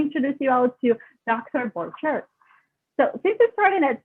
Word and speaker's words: Borchert: Borchert.